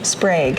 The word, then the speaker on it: Sprague: Okay, it's Sprague. That's what I thought.